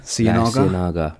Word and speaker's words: Ciénaga: La Singa? The Ciénaga? Ciénaga.